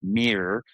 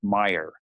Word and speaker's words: MIR: uh text to speech, I'd actually spell it m so that when the bot pronounced it, it pronounced it mirror and not meer.